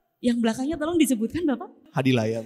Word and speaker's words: Hadilaya: Hadilaya, Mbak. Hadilaya. Oh, saya bacanya tadi Hadlaya ya Pak ya.